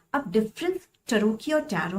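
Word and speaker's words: Tarocchi: This is not pronounced as तरोची, इसको हम टरोकी बोलते हैं.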